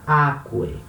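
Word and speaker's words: ἄκουε: Então fica aquae. Repara, no imperativo, o acento ele recua uma casa, né?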